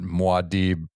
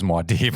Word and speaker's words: Muad'Dib: I've only ever heard Muad'Dib pronounced as Muad'Dib, so it was really confusing to me when you said Muad'Dib.